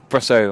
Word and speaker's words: Brusso: Damn, Brusso. I'm going to say it like Rousseau with a B.